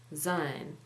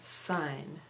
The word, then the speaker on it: Syne: Time in Scots design is pronounced like the English word sign not Zine as many people pronounce it so I guess it should be Old Lang sign not sign anyway I